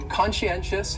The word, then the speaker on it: conscientious: going on there so conscientious has four syllables and the stress is on that third syllable that NN conscientious conscientious that second syllable is what really confuses people because that sci almost sounds like you're saying she conscientious conscientious and someone